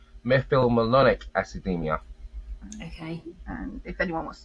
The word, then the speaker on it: methylmalonic acidemia: Well, the pronunciation we used to say it's meolic academia, but it's actually pronounced methylonic academia.